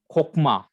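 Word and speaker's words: חָכְמָה: That is comets hatu, and it is pronounced as o. Example I have given you, okla, Yes. that means to eat. Also khokma means wisdom.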